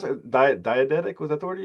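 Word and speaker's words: diegetic: Wait, does that impact how you approach the score then knowing what um can you pronounce? Diadeetic. Was that the word you used? Diagetic.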